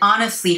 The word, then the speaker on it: honestly: off by scratching my head instead.What she said honestly hurt me, but I played it off like I didn't care.